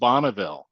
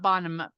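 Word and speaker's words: Bonneville: Bonville Jefferson and Madison properly pronounced bonnaville bonnaville bot not bonm bottom bille but Bonville so thanks for joining us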